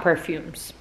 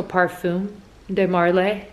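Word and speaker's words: Parfums de Marly: perfume de Marley perfume I know it's not perfumes I'm almost positive it's not perfumes I think the S is silent so perfume de Marley Mar Marl Marley whatever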